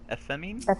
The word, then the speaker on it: Ephemi: Ephemine? Ephemi. Just imagine an F right next to the E.